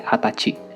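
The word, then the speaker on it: 二十歳: harus kalian perhatikan yaitu pada umur 20 pengucapannya bukan jadi ini jussai tapi menjadi hatachi Nah untuk menanyakan umur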